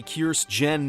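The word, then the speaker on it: Kirstjen: director of Homeland Security Kearse Jen Nielsen is out and that's how our name should be pronounced because you can't treat a J like a migrant child and just ignore it for resignation letter stated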